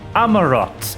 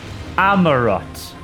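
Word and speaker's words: Amaurot: Amarot is the way you pronounce it. Amarot.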